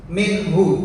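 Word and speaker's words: مِنْهُ: Yang kedua, minhu. Contoh yang kedua, minhu. Bacanya harus jelas juga. Minhu. Gak boleh mantul, karena nun ini bukan huruf qalqalah.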